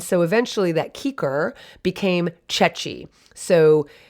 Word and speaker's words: ceci: but that's not so in italian the cha sound comes from c i or c e it's chi or che